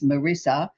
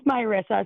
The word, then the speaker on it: Myissa: wrong, I know, is Marissa in Dulith in Minnesota, USA. And I I do apologize, Marissa. I probably got your name wrong. How can I help you today, sweetie? Um, my name's Myissa.